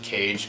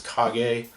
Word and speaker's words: Kage: I always call it Legend of Cage, but I hear it pronounced as Kage.